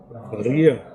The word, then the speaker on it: birria: Like then you get like a birria. Birria. You pronounce the accent is on the beer.